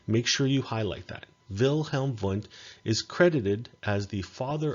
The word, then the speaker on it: Wilhelm Wundt: and his name is wilhelm vunt that's how you pronounce his name although i know that it begins with w's but it's pronounced wilhelm wundt and wilhelm wundt is